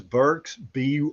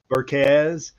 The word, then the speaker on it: Burks: My last name is Burks, Burks. I've been called Burke, Yeah. Burkez. And I played an entire game in the PA when I was in college. Right. The PA announcer pronounced my name Barks.